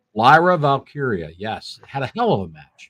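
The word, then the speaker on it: Valkyria: is that how you say her name Lyra valkiria yes had a hell of a match it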